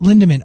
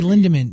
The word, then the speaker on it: Lindemann: person i know but you always put an r in her name whenever we mentioned her